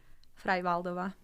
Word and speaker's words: Freivaldova: Freivaldova.